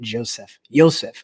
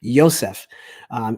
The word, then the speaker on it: Yosef: I think Mike Dean is going to be the Joseph. I say it wrong every time. I need to get travel across the world a little bit more. Yosef, Mike Dean is going